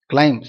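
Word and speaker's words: climb: கிளைம், CLIM. பி வந்து silent, பார்த்தோமா முதல்ல ப்ரொனவுன்ஸ்.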